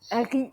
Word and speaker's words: riz: Harry. Nous, Harry. Le Z ne se prononce pas.